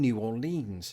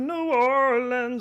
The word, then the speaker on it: New Orleans: or something like that New Orleans meanwhile I'm reliably informed that the even shorter option of New Orleans isn't usually spoken by residents themselves but is what tourists think residents say it's sort of like